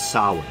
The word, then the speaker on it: Samhain: is music he only he always pronounces it correctly he's sawing but i don't know if he intends for the band name to be sahin or if he intends for it to be pronounced samhain because that does sound kind